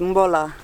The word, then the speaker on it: bula: Oh, okay, so the B is mba, so bula is mbola. See?